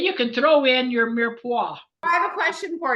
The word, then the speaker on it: mirepoix: Mirepoix. So we have to say it like the French, mirepoix. It's like M-U-R phonetically, mirepoix.